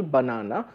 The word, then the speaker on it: banana: of these syllables suppose the word banana has an accent on the second syllable banana but smaller nana is